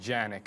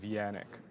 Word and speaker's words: Yannick: Yannick is a Polish name, but it is not spelt the Polish way. Because if it was, there'd be a J and people would call me Janik instead of Yannick.